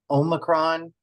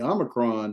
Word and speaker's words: Omicron: good uh now the Omicron I think you said Omron I I normally put it with a short o Omicron Omicron okay so not Omicron